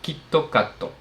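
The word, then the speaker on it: キットカット: En japonés, la marca KitKat se pronuncia Kittoocato y resulta ser casi idéntico a la frase Kittatsu que significa textualmente: "Seguro vas a ganar."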